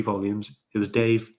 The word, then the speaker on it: D4V3: It's spelled D4V3 or VE, I don't know, but it's D4V, yeah, to make Dave.